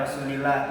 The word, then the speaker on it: rasulillah: Cara bacanya rasulillah tidak tebal. Kalau yang tebal tadi Rasulullah.